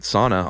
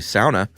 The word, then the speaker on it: sauna: I think I pronounced it sauna all through the episode, and got a lot of email that it's actually sauna.